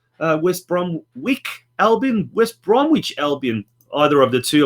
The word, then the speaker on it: Bromwich: make sense just dawn just don't pronounce the W try it again it's Bromwich conversation on have we